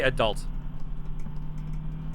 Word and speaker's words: adult: and become an adult I would say adult the stress on the second syllable oh there's other ones